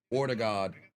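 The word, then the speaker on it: Ødegaard: Ortegard, if you will, is how it's pronounced.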